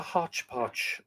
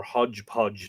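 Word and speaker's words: hodgepodge: was that this would be almost like a hotch pod or hodge podge depending on how you pronounce it of shorter chapters making up longer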